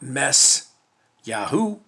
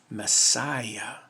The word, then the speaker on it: messiah: of ayah it's not mess yahoo it's not mess yahoo it's not mess yahweh it's mess messiah one more proof that